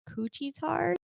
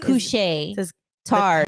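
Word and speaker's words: Couche-Tard: So according to release from Coochie Tard. What? Coochie Tard? Cooch Tard? Cooch Tard? How do you say this name? Spelled COUCHE. Couche. Tard.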